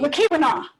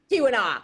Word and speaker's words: Keweenaw: We have another reader who said that she had visited the copper mine in I never can pronounce the peninsula's name correctly. You'll have to correct me. Keweenaw. Keweenaw.